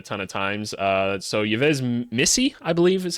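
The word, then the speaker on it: Yves Missi: seen it a ton of times uh so yez Missy I is how you say it and I'm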